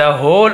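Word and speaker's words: whole: you have wasted the होल of your life तब तुमने है ना यू हैव वेस्टेड आपने बर्बाद कर दिया है द होल डब्लू साइलेंट है केवल होल ये होल यानी छेद था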